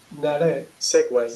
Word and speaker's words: segue: Segway. செக்வே Segway. Segway. எங்க வே Segway. வந்திருக்குன்னு ஒரு மணி கேட்கலாம். அதுவா? இதுக்கெல்லாம் பதிலே கிடையாது. வாழ்க்கையில நிறைய கொஸ்டின்ஸுக்கு பதிலே இருக்காது. ஏன் இப்படி நடக்குது, ஏன் இப்படி இருக்குன்னு. அதே மாதிரிதான் இங்கிலீஷ். Segway.